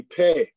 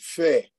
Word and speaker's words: Pe: And so by the time you get to the word verse 129, you see pe, or some pronounce it fe, depending on what dialect.